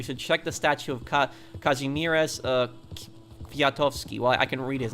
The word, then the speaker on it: Kazimierz Kwiatkowski: If you ever come to Hawaii, you should check the statue of Kazimierz Kwiatkowski.